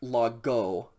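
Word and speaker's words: λόγῳ: i mean english words we are not going to actually pronounce that the date of singular of lagos is not like okay omega yota la it is just logo because that yoda subscript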